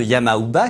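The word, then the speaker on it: Yama-uba: japon médiéval à cette époque le nom de yama ou bas qui signifie la vieille de la montagne et se prononce également ya mamba était synonyme de terreur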